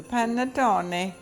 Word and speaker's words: panettone: the Italian Christmas bread I know I'm saying it right because I had to call my son this morning you say every single letter in Italian so panettone is happening today we're